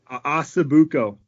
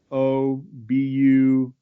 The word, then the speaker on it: Ossobuco: How do you pronounce that? The Italian one? Ossobuco. Ossobuco. Yeah. I'm gonna do that. Ossobucco.